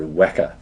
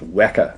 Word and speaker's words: Weka: it's downloading just let's have a word about the pronunciation of the word Wacker it's called Wacker we don't like calling it wicker system it's not weer it's wer pronounced to rhyme with Mecca that's the name of